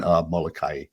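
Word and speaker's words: Molokaʻi: okay let's a few in hawaiian we pronounce every single syllable so it's kaho alavi it's lanai it's kawaii and molokai but you did very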